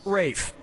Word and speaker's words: Ralph: fines has to throw up Braille pastorale repast Corral roll pastorale for ray pastorale yeah ray Fiennes first name is spelled like Ralph but pronounced Rafe and his brother Joseph